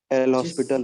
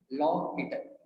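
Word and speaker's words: L'Hôpital: लॉ पीटर India में जरूर एल हॉस्पिटल बोलते हैं, पर इसका एक्चुअल नाम है लॉ पीटर। पर फर्क नहीं पड़ता आप प्रोनाउंस कैसे भी करें। आदमी का नाम लॉ पीटर था।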